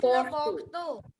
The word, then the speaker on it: Bordeaux: Ma'am, it is Le Bordeaux.